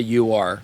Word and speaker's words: Ur: pronounced it like it's ur it's a yeah it's a German word but I'm going to say you are uh this is the